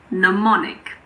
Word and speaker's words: mnemonic: If you're learning languages, you might be familiar with mnemonic. The first M is silent.